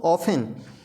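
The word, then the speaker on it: often: पहला शब्द है दोस्तों ऑफन, तो हमने बताया था यहाँ टी के बाद टी साइलेंट है, यहाँ ई आएगा। ऑफन, ऑफन मीन्स अक्सर।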